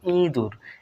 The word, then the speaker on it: ইঁদুর: দেখুন ইঁদুর এখানে ইঁদুর ইঁদুর নাকের পাশে উচ্চারণ হবে ইঁদুর এখানে দেখুন স্বরবর্ণের উপরে